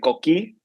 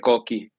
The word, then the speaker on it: Coqui: In Puerto Rico, they pronounce it Coqui because there's an accent at the end. But I pronounce it Coqui. That's just how I've heard it my whole life.